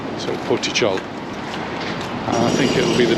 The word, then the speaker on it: Portixol: tit Port tit CH the x is pronounced like a CH so poy CH I think it'll be